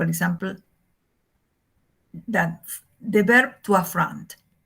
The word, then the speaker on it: affront: There is a schwa here because the first syllable is not accented. And the accent is in the second syllable, front, affront.